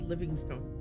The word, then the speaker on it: Livingstone: David Livingstone. It's pronounced Livingston, I know, because Dr.